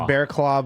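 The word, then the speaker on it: Barraclough: It's pronounced Bearclaw, but it's spelled B A R R A C L O U G. Okay. 35 years old. Bearclaw.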